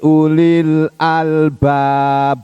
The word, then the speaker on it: Ulil Albab: ada li-poly asalnya Ulu Hai bacanya pendek ini punya pacarnya pendek bukan wuli bukan begitu nyanyi Badannya pendek Karena sudah bergandengan dengan alif lam ya Li Ulil Albab bagi orang yang mempunyai